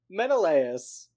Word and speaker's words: Menelaus: Agamemnon and Menelaus, is that how you pronounce his name? Menelaus? Yeah.